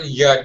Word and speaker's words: you: My point is, how are ya doing? Notice how underpronounced you is. This is very common. In English we pronounce you as ya.